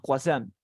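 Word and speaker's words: croissant: mira cómo se escribe es francés Es difícil no croissan y creo que lo pronuncies así mira cua cua y luego digas son y eso así se llama cuaisán y como hay uno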